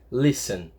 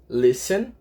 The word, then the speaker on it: listen: que é Listen tá na verdade esse t a gente fala com som de s Listen tá então o que acontece Listen qual que a sílaba mais forte não é ten é li ó Listen qual que